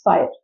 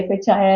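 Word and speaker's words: FHIR: So we had HL7 DICOM standards earlier but now it's fire and all these regulations talk about fire which is FHI. They pronounce it at fire but is actually FHI and that is one particular main standard that we need to emphasize.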